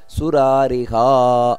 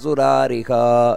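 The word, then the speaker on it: ಸುರಾರಿಹಾ: ದೀರ್ಘ ಬರಬೇಕು ಅಲ್ಲೂ ಕೂಡ ಆಮೇಲೆ ಸುರಾರಿಹ ಅಲ್ಲೂ ದೀರ್ಘ ಬರಬೇಕು ವಿಶ್ರುತಾತ್ಮ ಸುರಾರಿಹ ಈ ರೀತಿ ಅಜೋ ದುರ್ಮರ್ಷಣ ಶಾಸ್ತ ವಿಶ್ರುತಾತ್ಮ ಸುರಾರಿಹ ಇದು ಸರಿಯಾದ ಉಚ್ಚಾರಣೆ ಕೆಲವರು ತಪ್ಪು ಮಾಡುತ್ತಾರೆ ಅಜೋದರ್ಮರ್ಷಣ ಶಾಸ್ತ್ರ ವಿಶ್ರುತಾತ್ಮ ಸುರಾರಿಹ ಸುರಾರಿಹ ಅಷ್ಟೇ ಸುರಾರಿಹ ದೀರ್ಘ ಬರಬೇಕು ಸುರಾರಿಹ ಅಷ್ಟೇ ಅಲ್ಲ ಇಲ್ಲಿ ಭಗವಂತನ ಯಾವ ಯಾವ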